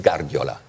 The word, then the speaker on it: Guardiola: How do we Pep, okay, I think it's okay, but how do you pronounce Guardiola? Is it Guardiola or is it Guardiola?